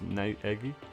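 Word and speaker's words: Naegi: that one because uh his last name is pronounced n eggy okay okay don't worry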